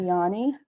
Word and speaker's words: Jāņi: And then another one in Latvia, it's called Jāņi. Again, the J is silent.